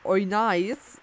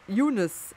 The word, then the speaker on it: Eunice: Jedenfalls eine nette Zuschauerin, ich gehe davon aus, dass es eine Frau ist, meinte, dass sie Yunis ausgesprochen wird. Eunice, Yunis, Oinais. Okay. Wir nennen sie ab jetzt Yunis.